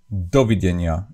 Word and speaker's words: dovidenia: But in the Slovak, it's like dovidenia. It's always on the first, dovidenia.